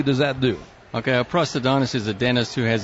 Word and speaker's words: prosthodontist: Yeah, it's prosthodontist. That's right. He did this on purpose so we could throw something. And what exactly does that do? Okay, a prosthodontist is a dentist who has additional training in prosthetics.